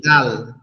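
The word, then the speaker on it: دال: মত দেখা যায় এই দাল অক্ষরটা কিভাবে উচ্চারণ হবে দাল অক্ষরটা আমরা যে তা উচ্চারণ করলাম না একটু আগে জিউবার আগা সামনের দুই দাতের গোড়ার সঙ্গে লেগে দাল দাল দাল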